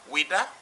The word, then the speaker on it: Ouidah: you know so uh when they wanted to pronounce weda right french people say wita and uh portuguese say tuta other people say a wider right so we have different spelling according to their maternal tongue okay the maternal tongue